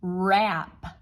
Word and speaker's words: wrap: Now we know when we say wrap, we hear but we're using a ghost digraph, so we need W, R, and that W is just being a little ghosty. It's not saying anything.